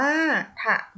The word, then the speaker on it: ถนน: อ่าน ว่า สมอง อยู่ ถนน อ่าน ว่า ขนน ตัว อักษร สูง นํา